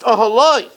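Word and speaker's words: אהלה: But it's pronounced ahaloi because he was with her all the time in the night.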